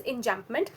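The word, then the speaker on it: enjambment: Um over here we also come across a very neo figure of speech which is known as enjampment. Uh it is spelled as e n j a m b m e n t.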